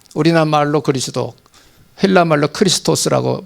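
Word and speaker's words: Χριστός: 헬라말로 크리스토스라고 발음합니다.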